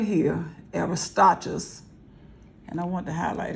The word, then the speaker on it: Aristarchus: So we see that this man, whose name is, how do we pronounce his name? Aristarchus.